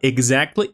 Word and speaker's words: exactly: lo pronunció También bien Ya ven que es como un sonido como de G ahogada exactly ex exactly como una i o como una gz exactly exactly y lo dijo así lo dijo exactamente así